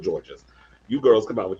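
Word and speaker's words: Jorgeous: saying her name right it's george's it's written j-o-r-g-e-o-u-s so i'm thinking this poison or yes whatever whatever we'll go with george's you girls come out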